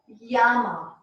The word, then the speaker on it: llama: In Spanish, when you see a double L in a word, it is pronounced as a Y.